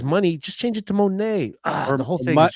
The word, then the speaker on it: Moné: look at it on paper, it's supposed to be Monet, not money. She pronounces it money, Mercedes money.